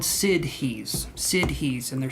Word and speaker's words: siddhis: to bear with me here so they're called sid he's sid he's and they're spelled it's spelled like this this is generally known as